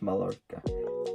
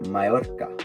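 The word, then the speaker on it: Mallorca: what it Ain pronounced Mala it's pronounced like MAA because there are two L's and when there are double L's it's pronounced differently it's don't pronounce it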